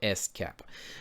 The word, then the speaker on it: SCAP: the security content automation protocol pronounced cap or s-cap and this is a